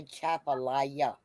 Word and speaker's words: Atchafalaya: Sam, that is pronounced the Chapalaya. Chafalaya Not no Basin. Appalaya. It's a Chapalaya. Yeah.